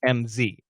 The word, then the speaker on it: Ms.: Ms. is actually a Z. It's MZ.